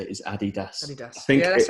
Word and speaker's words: Adidas: On my mind for this week, how do you pronounce Adidas or Adidas for some people?